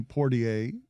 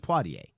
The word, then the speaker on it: Poitier: entirety of my life i call him poor ta right it's my father's favorite actor but i don't think i'm pronouncing his name right pottier i think sydney pattier